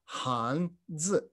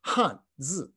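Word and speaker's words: 汉字: They are pronounced in modern Mandarin, Hanzi or Hanzi.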